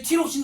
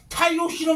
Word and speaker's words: 타이록신: 너네 티록신 들어봤냐? 티록신. 호르몬 티록신. 타이록신 이름이 바뀌었어요.